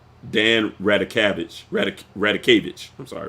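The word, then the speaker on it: Radakovich: Dan Radikevich. I'm sorry, Radikevich.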